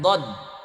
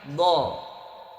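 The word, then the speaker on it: ض: Rata-rata yang belum begitu paham mengucapin huruf dod itu lidahnya keluar tuh do gitu. Do biasanya gitu. Nah, padahal yang berfungsi itu pinggirnya lidah nempel ke geraham sisi kiri atau kanan bagian atas.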